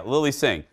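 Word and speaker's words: Lilly Singh: Is I'm pronouncing that right? Yeah, Lily Singh.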